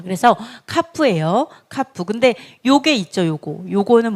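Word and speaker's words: כף: 카프, 키역 발음.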